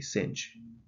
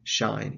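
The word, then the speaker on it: sinh: same way shy and in america it is strictly cinch you don't want to say shine in an american classroom that might get you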